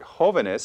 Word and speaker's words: jóvenes: Now, the word jóvenes, if we pluralize it, we added Another one more syllable.